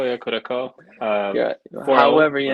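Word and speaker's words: Curaçao: I can't pronounce that name. Curacao, yeah, Curacao.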